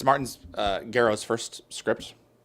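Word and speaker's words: Gero: But for what it is, um, it's Martin's uh, Grow's first script. Yes. Go. It's spelled G E R Gro. Like Gro, like Gro. Yes, it's Grow.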